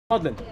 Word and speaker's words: Magdalene: But what he did, he changed the pronunciation of the name Magdalene. Pretty much he put his last name, Ma-Eline, Maudlin.